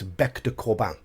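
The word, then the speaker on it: bec de corbin: bet to Corbin but that is incorrect it's French it's back to Corban so sorry Frank Mentor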